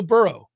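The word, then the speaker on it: Burreaux: 20 month old giraffe named burro as you might imagine it's spelled b-u-r-r-e-a-u-x had died after developing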